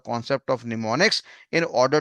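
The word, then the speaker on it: mnemonics: नीमोनिक्स का नाम यहाँ पे दिया हुआ है। तो एम नाम का शब्द आपका साइलेंट है।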